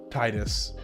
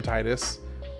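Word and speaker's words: Tidus: I've been calling him Titus for 25 years. I'm not gonna change it to Tetus just because one you know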